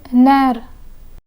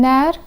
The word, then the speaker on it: nerf: Chef and nerf. Chef and nerf. The F in chef is pronounced, but the F in nerf is silent.